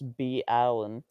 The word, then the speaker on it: Bolin: It's just B. Allen. I mean, why would you say ballin?